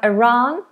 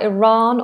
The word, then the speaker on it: Iran: So, we've got Iraq, we have Iran. Let me check this one as well for Iran or Iran. So American is more Iran, British Iran, a wider sound.